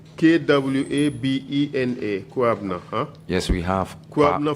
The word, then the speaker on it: Kwabena: Kwabna. K-W-A-B-E-N-A. Kwabna.